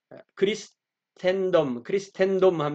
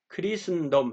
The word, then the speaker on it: Christendom: 이게 크리스텐덤 하면 이게 라틴어식 발음이고요. 영어식 발음은 크린슨덤 이렇게 한다고 그래요. ST 이런 것은 중간에 모음이 없으니까 발음이 안 나고, 크리슨덤 이렇게 해야 된다고 하는데 제가 이게 영어가 늘그뭐